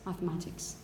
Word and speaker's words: mathematics: with the voiced one but if it's a foreign origin latin probably you talk about a cathedral or you talk about maths mathematics okay finally when you have